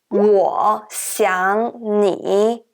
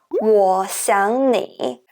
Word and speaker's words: 我想你: However, when native speakers pronounce this sentence, we often change the second character, 想, into the second tone. Instead of saying 我想你, we pronounce it like 我想你.